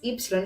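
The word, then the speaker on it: έψιλον: letters together omicron and epsilon so we have uranus but we also have isteria the first letter is epsilon here and it creates the sound e and i should clarify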